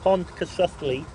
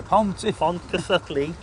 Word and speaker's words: Pontcysyllte: Now then, this bridge, this aqueduct, has a strange name that I can't pronounce, so I'm going to let you do it. Yeah, it's called the Pontcysyllte Aqueduct. The Pontcysyllte Aqueduct.